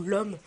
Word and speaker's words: l'homme: ça doit se dire l'homme parce que le H bien sûr ne se prononce pas normalement donc cette arme l'homme